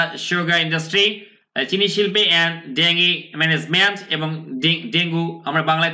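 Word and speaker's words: dengue: sugar industry এই যে শিল্প চিনি শিল্পে এন্ড ডেঙ্গি ডেঙ্গি ম্যানেজমেন্ট উচ্চারণ কিন্তু ডেঙ্গু না খেয়াল করুন ডেঙ্গি আমি কি কি বলছি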